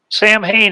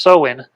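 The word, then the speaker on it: Samhain: what made me think about that is uh Sam Hayne is not pronounced Sam Hayne rather it's pronounced sohen and it is a Gaelic word unless a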